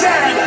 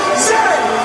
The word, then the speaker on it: Z: And it is pronounced Zed, not Zinni, Zed.